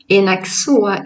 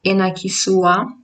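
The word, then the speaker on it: henakisoa: ksua, that means pork, although you don't pronounce enakisua. I do pronounce sometimes because my first language is Italian, so sometimes I do pronounce words a little bit like pronouncing every letter, but Malagasy we say enaksu.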